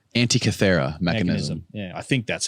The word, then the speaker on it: Antikythera: Antikythera. Antikythera mechanism.